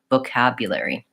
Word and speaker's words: vocabulary: I would say it definitely has an O sound, but the O is not stressed. The second syllable is stressed. So the O is reduced and short, vocabulary.